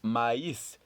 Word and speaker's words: maïs: So this last word is pronounced maïs.